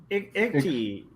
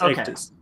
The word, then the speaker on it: Ictus: Oh, Ikti. No, it's Ictus. Oh, Ictus. Okay. It's pronounced Ictus.